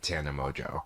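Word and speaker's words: Mongeau: them happens to be an unlikable woman online, Tana Mojo.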